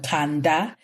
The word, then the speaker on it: Kanda: The brand is called Kanda. Kanda, it's actually pronounced, it's Kanda.